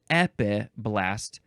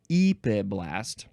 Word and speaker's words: epiblast: And yes, it's epiblast, not epiblast.